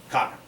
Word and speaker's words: Khagan: This is pre-Mongolian, so So not a Khan, there's an extra syllable in there from the earlier Turkish linguistic forms.